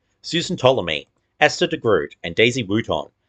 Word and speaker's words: Ptolemy: Susan Ptolemy, the P in Ptolemy is silent, is a temperamental and